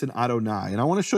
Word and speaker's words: Adonai: things here is that the first letter of Adonai is silent. Why is it silent? Because in Hebrew you have laai. So la it's a contraction just like you say in English cannot becomes can't. It's a typical contraction.